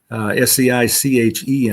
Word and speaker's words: seiche: Seiche is a French word, S-E-I-C-H-E, I believe, but it's pronounced seiche.